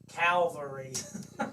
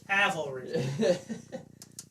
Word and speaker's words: cavalry: find john dane said except when you say calvary calvary cavalry cavalry there i said all three syllables are you happy yeah